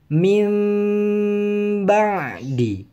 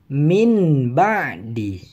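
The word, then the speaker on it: من بعد: Jadi sekali lagi cara membacanya adalah mim ba'di, bukan min ba'di.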